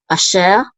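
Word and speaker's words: אֲשֶׁר: a chatef patach, which is again the reduced patach. It's like a quick patach, so it's a. And then we have a shin with a sigol, which is she, and the resh closes the syllable out, so we say sher, asher, and this means who, that, or which.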